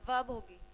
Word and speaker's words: verb: लेकिन इसमें आर क्या होता है, साइलेंट होता है, तो इसकी प्रोनाउंसिएशन क्या होगी, वर्ब होगी।